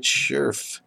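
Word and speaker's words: Scherff: That's how you say it, Scherf.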